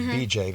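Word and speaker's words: Beejay: It was BJ. It's spelled B-E-E-J-A-Y.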